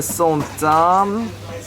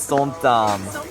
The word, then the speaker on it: som tam: So we ordered the som tam and this. Okay, smart Alec, how do you pronounce som tam?